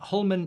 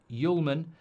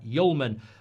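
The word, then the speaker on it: Hjulmand: Just for your attention, Hullman is pronounced Yulman.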